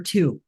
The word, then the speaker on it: Tiu: and it's uh actually people can just say to make it even easier just the number two chy okay yes but